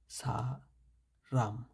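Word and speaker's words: 사람: এটা হবে ছিউতের সাথে সা, সিউতের সাথে আকার আসে হয়েছে সা, রিউল মাঝখানে হওয়াতে রয়ের মতো উচ্চারণ হয়েছে, সাথে ছিল আকার রা, মিউম নিচে আসাতে উচ্চারণ হয়েছে ম, সা রাম, সা রাম।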